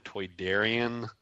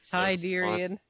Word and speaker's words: Toydarian: be a stall in the, I guess it's pronounced Batu marketplace. It'll be, the proprietor will be the Toydarian, which you will probably recognize from Star instead Wars. Instead of Tydarian.